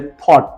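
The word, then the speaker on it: thought: दें coat think का paste tense होता है थॉट टी हा ओ यू जी हा टी लेकिन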